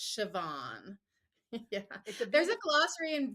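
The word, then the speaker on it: Siobhan: b h n but the BH is a v sound so it's sioban yeah there's a glossery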